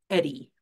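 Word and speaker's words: EHDI: and Intervention Program the we acronym is is pronounced Eddie um and this is an opportunity for to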